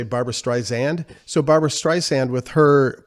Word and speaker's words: Barbra Streisand: character playing john peters who was uh dating barbara streisand at the time yeah that was bradley cooper